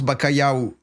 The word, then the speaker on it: bacalhau: au cabillaud ouais c'est ça et ça se prononce bacalhau en train de vous soucier par rapport aux